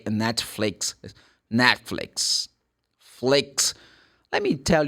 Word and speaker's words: Netflix: always fit Netflix man I love Netflix you like net flakes Man, that the stress comes the first syllable. It's not even n Netflix.